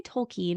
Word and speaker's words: Tolkien: is a five and I should say tolken because I learned that that's the pronunciation and him being a philologist would have appreciated that sure um but I